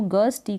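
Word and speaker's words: gusto: फिर है गस, जी यू एस को गस, टी को ट ओ, गस्टो हो गया। यहाँ पर यू को अ के रूप में प्रोनाउंस कर रहे हैं, जी को ग, एस को एस और टी, स्ट हो गया ना, एस और टी को स्ट पढ़ते हैं और ओ को ओ, गस्टो मतलब उत्साह।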